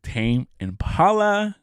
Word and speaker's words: Tame Impala: The next is Tame Impala.